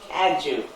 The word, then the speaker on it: Cadieux: Cadju. Cadieux. Oh, Cadju, like gift.